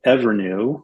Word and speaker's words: EVRNU: I'll give you another example of a company that's called Evernew, which is spelled EVRNU.